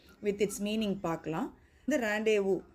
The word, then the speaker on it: rendezvous: இந்த ரேண்டேவு ஸ்பெல்லிங் பார்த்தீங்கன்னா RENDEZVOUS, ஆனால் ரேண்டேவு அப்படின்னு நம்ம அதை ப்ரொனவுன்ஸ் பண்ணணும்.